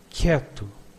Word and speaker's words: quieto: Quieto, it means quiet. In quieto, you do not pronounce the U after the Q.